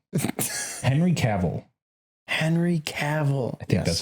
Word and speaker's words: Cavill: Henry Cavill. I think that's how you pronounce it.